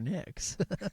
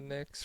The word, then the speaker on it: Knicks: Yeah, I think it's probably more on the Knicks. KNI. I'll See, the crazy thing about the Knicks is the K. So it starts with a K, but the K is silent.